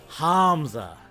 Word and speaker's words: Hamza: No, Hamza. The second H is implied. Different twist on the syllable.